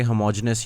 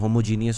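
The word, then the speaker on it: homogeneous: उसके अलावा वो कुछ छोटे मोटे मजाक है कि होमोजेनस या जो कुछ लोग बड़े शौक से कहते हैं होमोजीनियस होता है। दोनों ही प्रोनाउंसिएशन ठीक है, कोई फ़र्क नहीं पड़ता।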